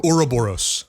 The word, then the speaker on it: Ouroboros: Think of like Aurora in your mouth. Try to say Aurora. Aurora. It's Ouroboros. Ouroboros.